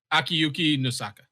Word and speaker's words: Akiyuki Nosaka: Akuyuki Nosaka. Akiyuki Nosaka.